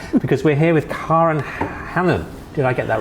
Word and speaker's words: Hanan: Actually, you'll need to Google that because that's a very very well-known brand because we're here with Karen Hannon.